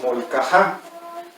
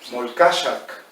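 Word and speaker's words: Molcaxac: no decía Molcajá, decía Molcachac. Todavía ella lo pronunciaba como se pronunciaba originalmente, el Molcachac. Y hoy le decimos Molcajá, ¿sale?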